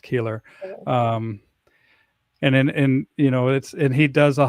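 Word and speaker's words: Koehler: Kohler. Yeah. Yep. Kohler. Yeah. Yep. But it's pronounced Keeler.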